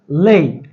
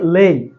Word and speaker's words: lay: আর দেখেন এরপরে যে ভার্বটা নিয়ে আলোচনা করতে যাচ্ছি সেটা হচ্ছে লেই। উচ্চারণটা কি? লেই, লে না, লেই।